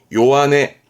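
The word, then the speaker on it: 弱音: 그래서 발음 또한 요한에, 요한에.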